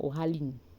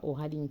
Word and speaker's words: OraLearn: Il y a plusieurs personnes qui sont avec nous depuis des mois et qui disent souvent OraLearn. C'est pas OraLearn, c'est OraLearn. Learn comme apprentissage, comme learn.